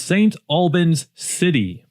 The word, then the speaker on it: St. Albans City: Number one is St. Albans City. I'm number one. You've got to be very careful how you say it. It's not St. Albans, it's St. Albans City.